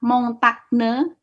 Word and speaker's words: montagne: G ketemu N, dibacanya. Makanya kalian kalau baca signal, dibaca apa? Sinyal. Sinyal. Oke. Makanya kalau nanti ketemu kata montagne dalam bahasa Prancis, berarti dibaca apa? Montagne. Montagne. Montagne.